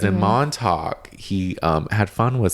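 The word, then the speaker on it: Montauk: Montalk is a place.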